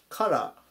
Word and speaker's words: color: はい、最後 360 番、カラー、カラー、発音に注意ですね。